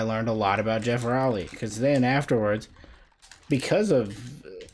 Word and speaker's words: Geoff Rowley: I now have learned it's pronounced Rowley, not Rowley.